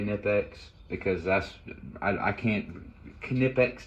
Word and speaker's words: Knipex: uh i know that it's pronounced by the way like the germans call it uh kinnipex tools but i'm i'm